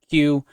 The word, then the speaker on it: Ciw: Notice that Q is spelled C I W. And this is the Welsh spelling of the word Q. An English spelling would be something like Q U E U E.